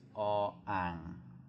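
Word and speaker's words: อ อ่าง: It's all ang. All ang. There's a tonal difference.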